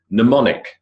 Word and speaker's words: mnemonic: Mnemonic, mnemonic, silent M.